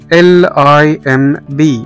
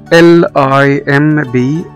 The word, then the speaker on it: limb: وزي كلمة lem، lem limb، lem اللي هو عضو من أعضاء الجسم بتاع الإنسان، limb هنا ما نطقناش حرف البي.